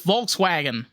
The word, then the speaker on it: Volkswagen: yeah, it's, they're like, oh, it's Volkswagen. No, it's Volkswagen. No, it's Volks, right? Volkswagen. Yeah, Volkswagen. Yeah, the W is a V.